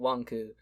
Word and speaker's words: Wanku: But yes, pronounce for those who are listening, they pronounce it Wanku, but it's probably supposed to be making a joke about wanking.